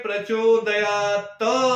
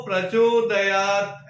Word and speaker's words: प्रचोदयात्: ऐसे मंत्र बोलना चाहिए कई लोग क्या बोलते हैं लास्ट में प्रचोदयात् बोलते हैं तो यह जो टी है वो साइलेंट है तो प्रचोदयात् ऐसे बोलना चाहिए तो हर रोज की